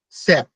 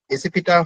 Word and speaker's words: SAP: প্রোনাউন্সিয়েশনে এটাকে আমরা বলি স্যাপ। ঠিক আছে, স্যাপ বলি। তো আসলে প্রোনাউন্সিয়েশনটা এরকম হওয়া উচিত, স্যাপ না হয়ে এসিপিটা হওয়া উচিত বলে আমি মনে করি।